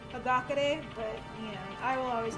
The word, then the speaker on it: Hagakure: Ah, fuck off, Hakakure. You're an idiot. Like, I know it's pronounced Hagakure, but, I will always call him.